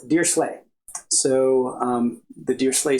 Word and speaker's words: Dirichlet: those things is the dear slay series uh the series itself is this um I I've heard it pronounced uh by I think people who know what they're talking about as dear dear slle so um the deer